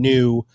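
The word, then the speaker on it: Nyo: how you have taken new which by the way is spelled n-y-o which i think is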